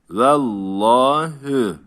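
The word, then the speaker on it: وَاللَّهُ: a sesi ile okunur Allah isminden önceki harf esreli olursa Allah ismi e sesiyle okunur kuraldır bunu ezberleyelim vah Asar var uzatıyorum hü vallahü burada bir tecvit kuralı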